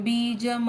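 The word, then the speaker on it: बीजम्: स्थावरणु विस्तार स्थावरणु प्रमाणम बीजम अव्ययम प्रणाम बीजम व्ययम प्रमाणम प्रणामम नहीं प्रमाणम प्रमाणम बीज बीज बीज ज का उच्चारण पूर्ण बीज बीज मव्ययम मव्ययम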